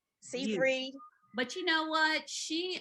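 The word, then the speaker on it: Seyfried: go to amanda um how do you say her last name said frank skye fried cyphery sid free yeah that one see free but you know what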